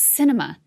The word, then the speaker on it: Sinema: here the headline reigns cinema stars in her own film init dowd writes the arizona senator's name is pronounced cinema and it is apt